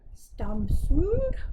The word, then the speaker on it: Stamsund: I asked my brother-in-law how you pronounce it. I think he said something like Stamsund.